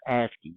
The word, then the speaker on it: ASCII: So ASCII, this is pronounced ASCII.